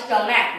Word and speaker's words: stomach: अब monarch और stomach दो ऐसे वर्ड है। monarch और stomach take s in place of es because their pronunciation end with k, खा in place of cha।